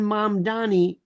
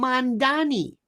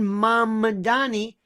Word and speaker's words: Mamdani: Zohran Mamdani is not, and by the way, nobody pronounces his name. There are people I know, they call him Mamdani.